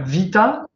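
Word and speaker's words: ⲃⲓⲇⲁ: vol, c'est un vita. C'est un vita, donc ça se prononce ve devant voyelle. Oui, d'accord. Merci. Voilà. Ve devant voyelle et sinon be devant consonne ou dans tous les mots, dans tous les noms propres.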